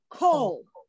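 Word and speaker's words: כל: This word is pronounced kol.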